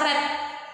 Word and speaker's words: read: bentuk ketiga the sama tapi cara bacanya beda kalaupun dibaca read kalau begitu seorang putri dibaca red Brick red red bentuk tulisan sesama Nah